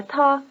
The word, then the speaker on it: 他: Notice that both he and she are ta.